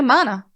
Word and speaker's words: Mana: No, Mana. Says right here, rhymes with Donna.